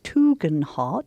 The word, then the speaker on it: Tugendhat: I say Tugendhat. He's spelling that Toogen-Hart, but my brothers say it differently. We should go with him, so it's Tugendhat.